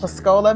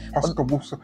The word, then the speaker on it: Pascagoula: I live in, is it Pascola? I don't know how to say Pascola, Mississippi. I apologize to those who know how to pronounce it. Pascagoula.